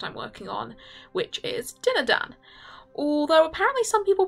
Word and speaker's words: Dinadan: the comic project i'm working on which is dinner dan although apparently some people pronounce it deem them but that sounds weird so we're gonna stick with dinner done because it's better inktober i think personally tell